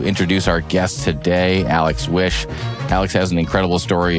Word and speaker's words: Wisch: Alex wish is it wish am I pronouncing that right yes like make a wish exactly make a wish